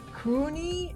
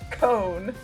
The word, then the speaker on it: Cone: it Kane is it is it Cooney and I'm like no it's as simple as it looks it's cone so yeah that is